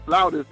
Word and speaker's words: flautist: Both flutist and flautist is correct. All right. They're both right.